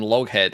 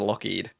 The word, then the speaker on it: Lougheed: because people would call him Loghead instead of Lockheed.